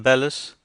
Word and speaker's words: bellows: However, if you have a woodf fire, you must have a pair of bellows. I know a man who always calls them bellis, which is, I believe, the professional pronunciation.